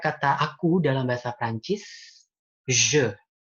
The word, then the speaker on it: je: Oke, kayak kata aku dalam bahasa Prancis, je. Tulisannya J, E, J, E. Dia bacanya je, bukan J, bukan je.